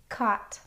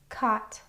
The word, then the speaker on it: caught: Now, you'll notice that caught rhymes with bought in the words above, but it has a little bit of a different spelling. It's spelled a u g instead of o u g.